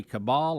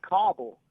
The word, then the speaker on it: Kabul: And while we have you, how did the locals say? Did they say Kabul or Kabul?